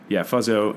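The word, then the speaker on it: Fuzzzo: He was Fuzzo, and he would say it's F-U-Z-Z-Z-O, but the middle Z is silent.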